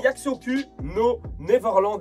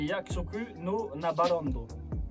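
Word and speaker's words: 約束のネバーランド: on va- C'est Yaksoku no Neverland, les gars. Non, c'est Yakusoku no Nabarondo. Nabarondo.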